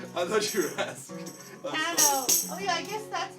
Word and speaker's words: Cano: Cano, can you? Oh, actually, it's Cano, actually. Ah, Sorry. he's not a gentleman. I thought you were asking. Cano.